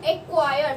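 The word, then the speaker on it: acquire: ठीक है, उसके बाद आता है एक्वायर, एक्वायर, मैं बोल रही हूँ एक्वायर, तो ये क्यू का अक्षर तो पूरा पूरा आ रहा है, मतलब ये सी साइलेंट हो गया, ये रहा एक्वायर का।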